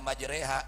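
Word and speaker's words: مجراها: Bacanya majreha diimalahkan ya.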